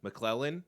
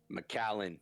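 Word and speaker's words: Macallan: McClellan, I think is how you pronounce it. Is it McClellan? I don't know. How do you say that? McAllen. Is it McAllen?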